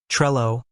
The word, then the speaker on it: Trello: to throw people off the e in Trello is a short e sound think of the Intel or well it's not ay like in tree or sea that eliminates the Trello pronunciation for most native English speakers now the Double L in English double L's usually create a single l sound think of little or